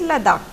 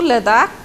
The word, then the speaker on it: Ladakh: Now we will go to the cold desert, that is Ladakh. Ladakh is made up of two words. La meaning mountain pass and Dak meaning country. Dak or Dak, you can pronounce in both ways.